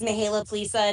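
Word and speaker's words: Mihaela Plesa: Chair of this group, Mihaela Plaza. Am I close, Mihaela? Thank you so much. Is that close to pronunciation? Yes, you did very well. Thank you. Good morning, everybody. My name is Mihaela Plisa, and I proudly serve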